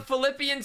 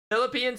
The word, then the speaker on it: Philippine: you're my sh a Philippian C Philippine C look my soul my soul has right here on Wiki that's not how you say it okay Philippine stop adding an extra syllable Philippians is a book